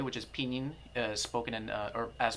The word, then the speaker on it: pinyin: who don't speak Chinese the way that I pronounce pinyin is in the Chinese Way which is peening spoken as pronounced and